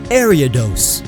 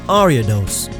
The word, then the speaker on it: Ariados: Ariados. It's named after Ariadne, so it's not pronounced Ariados.